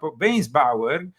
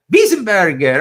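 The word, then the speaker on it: Weisenburger: The article concerns Archbishop Weinsbauer. That was, do you pronounce it like that? No. Weisenbauer? Burger? Wiesenberger.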